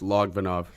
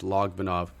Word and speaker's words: Logvinov: It's Logvinov. Logvinov. A lot of people pronounce it, improperly, but it's Logvinov. Logvinov. A lot of people miss the V in the middle, but Logvinov, it's a Ukrainian name.